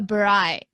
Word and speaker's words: braai: A braai.